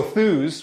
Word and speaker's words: Thuuz: name uh derived from so thus which is spelled t huu z uh and I'll have to explain that and actually that's really easy to explain the URL was available believe it or not five letters long and you can kind of look at it phonetically kind of um but it's basically a short for enthusiasm or Enthusiast uh in